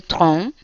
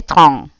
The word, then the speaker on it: train: Si yo digo le train, simple, sin abrir mucho la boca, estoy diciendo el tren y lo hago nasal, le train.